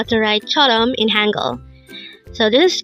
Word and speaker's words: 처럼: here at day angle word number 343 Chom Chom this pronounces a two syllable word the first syllable is cha second syllable is R pronounce it with me Chom Chum the Korean word Chum is used